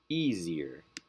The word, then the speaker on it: easier: three syllable words with words ending in er or lee the stress goes on the first syllable easier this is the first